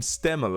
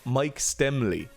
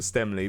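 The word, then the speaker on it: Stemmle: but Mike stemmel who I've been calling him stemel and he himself does not pronounce his name here he is Mike stemmel so he pronounces his name Mike stemley so Mike stemley I'll try to remember to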